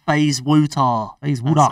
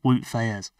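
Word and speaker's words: Wout Faes: good luck pronouncing that FaZe wutar as I would call him W his name's actually woot FZ okay but FaZe wutar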